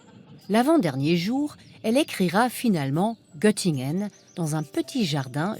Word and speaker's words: Göttingen: comme c'est charmant notamment quand elle dit gtingun gtingen au lieu de gtingen ce titre que Barbara